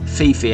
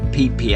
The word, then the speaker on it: Phi Phi: And it's not pronounced how it's spelt, Phi Phi Island, everyone calls it Phi Phi Island.